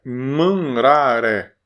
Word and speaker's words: manraré: Então é manraré. Como se tivesse vários acentos aqui, ó. Manraré. Manraré. Mas se escreve apenas com acento no final.